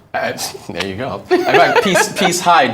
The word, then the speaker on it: Peace Hyde: In fact, peace Hyde just rhyme with bright side.